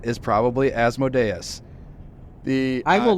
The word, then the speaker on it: Asmodeus: were doing in 2007 in the pronunciation guide as modius is Azz m o with the emphasis on M O as Mo e asmod